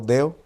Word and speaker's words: deo: palabra compuesta de la palabra deo con acento en la o deo y de uleo que